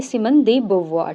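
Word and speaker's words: Simone de Beauvoir: इसकी प्रोनाउंसिएशन, ये एक फ्रेंच नेम है, तो इस हिसाब से उसकी जो प्रोनाउंसिएशन वो बनती है सिमन दी बुवॉर, ठीक है।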